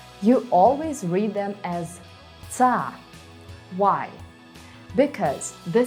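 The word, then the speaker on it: -ться: You always read them as ца. Why? Because the sounds t and s together make the sound ц. ц. And ц can't be soft in Russian. So such endings will be always pronounced as ца.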